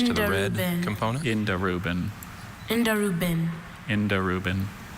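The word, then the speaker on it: indirubin: Indarubin. Indarubin. Indarubin. But there's still that schwa, Indarubin. second syllable.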